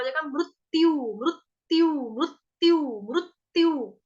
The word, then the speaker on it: मृत्यु: तो क्या हो जाएगा, मृत्यु, मृत्यु, मृत्यु, मृत्यु, तो दो आधे आधे त बोल रही हूँ, दो आधे आधे त का उच्चारण में कर रही हूँ, मृत्यु, आघात का